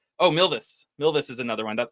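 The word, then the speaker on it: Milvus: Oh, Milvis, not Milis.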